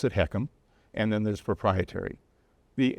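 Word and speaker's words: HECM: letters H E C and we pronounce it heekkum and then there's proprietary.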